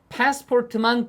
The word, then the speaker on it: passport: 머릿속엔 빨갛게 해 놓은 passport만 들리면 발음이 패스포트 아니고 passpor 이거만 들리면 주시면 돼요 아니면 미리